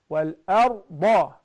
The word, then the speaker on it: وَالْأَرْضَ: The Alif is thin, but because it's Fatha, so the Ra has to be fattened. So you must say وَلَئِن سَأَلْتَهُم مَّنْ خَلَقَ السَّمَاوَاتِ وَالْأَرْضَ. وَالْأَرْضَ. The Ra is fattened.